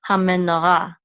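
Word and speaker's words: המנורה: This hay will be silent. Ra, ha me, no, ra. The menorah, that's what it means, the menorah. The ha means the menorah. Ha menorah.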